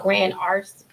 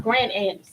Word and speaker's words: Grand Anse: I think it's called Grand Arts. It's on this side? Grand Anse, A-N-S-E.